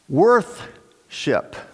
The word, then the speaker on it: worship: of define that word worship it should be pronounced worth ship we're recognizing the worth of something now it's kind of